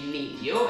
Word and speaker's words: Lilio: Well, his name was Luigi Giglio, or Luigi Lilio, as you wish to pronounce it.